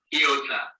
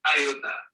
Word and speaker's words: iota: The ninth letter of the Greek alphabet is named iota. Some people call it iota.